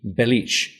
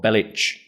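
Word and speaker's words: Belić: It's also pronounced with a hard C throughout the game.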